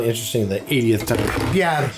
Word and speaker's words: Bière: Bière. It's f***ing French. It's bière. Beer. What the f***? Why are you rolling your tongue like you're Mexican? Bière.